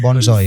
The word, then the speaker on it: Bonjour: I didn't know how to pronounce the word even at that time. Bonjour. 40 years ago. Yeah, yeah, maybe 40, maybe 50. Then he corrected, "Bonjour."